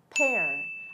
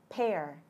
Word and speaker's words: pear: Thì lê mà sẽ đọc là pear, âm air, ha. Con gấu nha, mọi người nhớ nha, con gấu mình đọc là bear, nhưng mà cái lê ha, nó sẽ là âm p, pear, bear, pear.